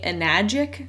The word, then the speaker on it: Enagic: Okay, so this very first clip, this is from somebody in the company Enagic, I think is how you pronounce it.